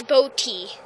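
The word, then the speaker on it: Bodye: It's fail by Boaty. Ha ha. Even though his name is spelt B-O-D-Y-E, he spelt it B-O-A-T-Y, and that's okay.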